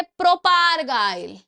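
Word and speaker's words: propargyl: इसकी प्रोनाउंसिएशन तो भाई मेरे ऊपर से जा रही थी। ठीक है? मैंने बचपन से बोलने की कोशिश करी है बट नहीं याद रहती है। तो इसको बोलते हैं बच्चे प्रोपगाइल।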